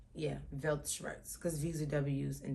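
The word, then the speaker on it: Weltschmerz: s c h m e r z yeah velt shs cuz V's are W's and W's are V's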